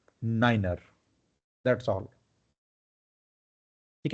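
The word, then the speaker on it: niner: 9 को 9 नहीं पढ़ना है, क्या पढ़ना है? नाइनर।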